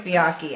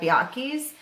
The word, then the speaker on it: Bianchi: biake uh biachi bianchi i think it's biake i don't think the ch is pronounced but uh he was